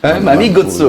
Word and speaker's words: Mamy Gotso: J'ai bien prononcé ton nom. Oui, oui. Mami Gotso.